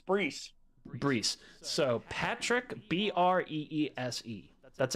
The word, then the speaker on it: Breese: Is it Breeze or Breese? The S, it's Breese.